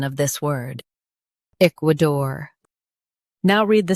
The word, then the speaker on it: Ecuador: k wuh dor Ecuador Stress the eek and keep dor light. k wuh dor Ecuador Practice repeatedly and you'll soon be able to say this word perfectly.